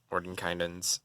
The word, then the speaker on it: Mordenkainen: No, but Mordenkainen's is a very good book. I say it Mordenkainen because that's how it's pronounced.